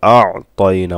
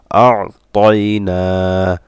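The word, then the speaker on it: أَعْطَيْنَا: ইন্না আতাইনা কাল কাউসার কাল কাউসার ইন্না আতাইনা, এখানে আইনটা একটু চাপ দিতে হবে, আতাইনা অনেকের এই উচ্চারণটা হয় না, আতাইনা কাল কাউসার কাল কাউসার।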